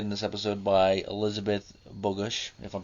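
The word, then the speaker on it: Bogush: Angela who's played in this episode by Elizabeth bogus if I'm pronouncing her last name correctly it's b-o-g-u-s-h and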